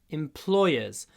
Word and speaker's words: employer: И получается employee, ударение на первом слоге, на последнем слоге. Employer, ударение на втором.